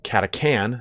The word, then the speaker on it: Catachan: this actual video is the pronunciation of Katich an I've heard it pronounced katha can I was in like a in an audio book that came out in like 2016 or 2017 but I'm gonna stick with the way I've always pronounced it which is Katich an if you prefer pronouncing in a different way it's totally on you not a big deal